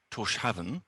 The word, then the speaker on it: Tórshavn: We are in the tallest building in the capital city of Tórshavn, and Tórshavn is how you pronounce it, I believe.